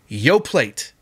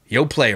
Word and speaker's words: Yoplait: It's like Yop. It's not Yop. And I don't care what the marketing agency or what the name, whoever invented it, what they call it. It's yogurt. It's Yoplait. Yoplait or whatever.